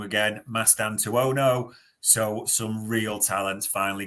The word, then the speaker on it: Mastantuono: And we've talked, and I'm probably going to pronounce it wrong again, Mastantuono.